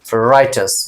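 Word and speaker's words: riotous: क्या बोलेंगे, राइटस, मैंने यहां पे प्रोनाउंसिएशन दे रखा है।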